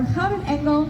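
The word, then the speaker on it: Gouden Engel: of our organs is the golden angel or how angle as it is pronounced in dutch and it gets its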